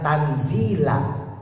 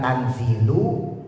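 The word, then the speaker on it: تنزيل: Nah, kalau pakai qiraahnya Imam Asim yang kita baca nih dibacanya tanzila di fathah bukan tanzilu bukan tanzili tanzilal azizir ya.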